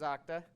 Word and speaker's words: Okta: kind of a pain but i work for octa you can call okra also a lot of people say okta right but the permanent the correct pronunciation is octa and we do users as a software service